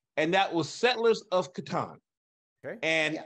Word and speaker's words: Catan: Now they call it Catan. Yeah. But, you know, some people might think it's the other pronunciation, which is the wrong one, and that's Catan.